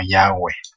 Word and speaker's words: Yahweh: Lo voy a pronunciar yo como Yahweh, que es la pronunciación que yo creo que es la más cercana a la realidad.